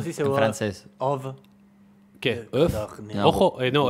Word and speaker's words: œuf: Of. ¿Qué? ¿Of? No. Ojo, no, ¿el huevo? Huevo de corniz. No, sería? Codorniz no sé. Couturné. ¿Cómo? Couturné. Couturné. Huevo se dice Œuf.